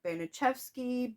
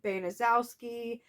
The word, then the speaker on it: Baniszewski: pronounced several different ways I've heard benicevsky benazowski banashewski like there's just several different ways I've heard her name pronounced so basically what I did is I typed her name into Google translate and it said banazewski so that is what I went with um you can say